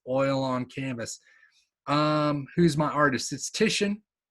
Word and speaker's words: Titian: who's my artist is Titian um ti ti a n you pronounce it Titian some of you I